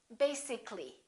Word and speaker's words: basically: it has two syllables if we add a ll Y we don't say basically this a disappears so the a is not pronounced and we say basically take a look at